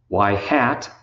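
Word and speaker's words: ŷ: variable also called the explanatory variable that's X Y hat and that's how you pronounce it y hat with a little hat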